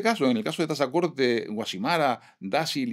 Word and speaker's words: Tazacorte: sí es que decís, decís dáil, decís decís tasacorte, decís guashimara. Y sí, ¿cómo tenemos que decir? Pues tenéis que decir dácil, tazacorte, guazimara. Concretamente puso ejemplos de de de pronunciaciones erróneas por un peninsular que desconoce la etimología de esas palabras. Guasimara, dáil y tasac nunca se pronunciaron con Z en Canarias.